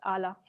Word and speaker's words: Ala: Is that how you pronounce Ala? Yes, it's Ala. Ala.